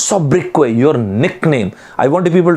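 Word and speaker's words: sobriquet: mark my words s-o-b-r-i-q-u-e-t the pronunciation of this word is not sub-briquette it is what is sub-breakaway your nickname i wanted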